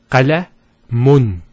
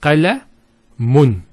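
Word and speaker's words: قلمٌ: If we put two dhammas, it will be pronounced as qalamun. Qalamun. So notice the noon sound at the end.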